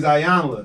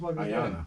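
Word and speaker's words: Iyanla: He's Ayanla. You- But he's a I ain't know man. that's her name. I've been saying it wrong all the time. Damn. I've been saying Ayana.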